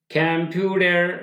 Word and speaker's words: computer: মানে চালক অফ কম্পিউটার, এটা যদি আমেরিকান ইংলিশ হতো কি বলতাম, কম্পিউটার, কম্পিউটার ডার বলতে, তাই না, টির উচ্চারণ ডাহ সাউন্ড হয়ে যাবে, তাই না, আমরা এটা পরে বুঝি, এটা ডাহ সাউন্ড হবে।